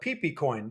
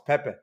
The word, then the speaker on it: Pepe: Pepecoin would come up, I'd call it peecoin because that's how I pronounce because it's funny, right? Peepcoin. And they're like, "No, him and the other like no it's Pepe. It's Pepecoin."